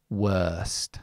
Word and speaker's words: worst: But, when we have a w at the beginning, it changes to the long schwa. wer worst.